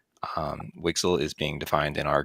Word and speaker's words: WGSL: a new shading language wgsl which we pronounce wixel wixel is being defined in